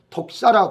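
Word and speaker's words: δόξα: 찾아보면요 더 복잡하게 돼요 신약의 언어는 헬라어로 독사라 그래요 독살이 뱀 말고 발음이 독사의 발음이 독사이 독사라는 말인데이 도사란 말이요 한두 개의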